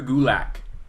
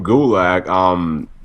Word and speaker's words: Gulak: what's his how you pronounce his last name? Drew Gulak. Drew Gulak.